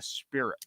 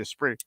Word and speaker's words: Esprit: that, you know, like I was calling the Esprit the Spirit, and people were like, it's not the Spirit, it's the Esprit.